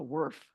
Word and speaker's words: Worf: time I've heard it called a Worf yeah that's why I asked you to tell us what it was that's what it truly is yeah rhymes with Smurf yeah I know we're